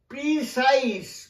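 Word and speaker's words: precise: হয় না, এই জ উচ্চারণ হয় না, সেখানে উচ্চারণ হয় দন্ত স, সাইস, যেমন উদাহরণ দিচ্ছি এক্সারসাইজ দন্ত স, কনসাইস, কনসাইস মানে সংক্ষিপ্ত, প্রিসাইস মানে যথাযথ, দেখো এক্সারসাইজ কনসাইস প্রিসাইস, লক্ষ্য করেছো, বেশ।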